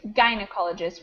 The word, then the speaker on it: gynecologist: a note on pronunciation it's gynecologist with a hard G okay thank you gynecologist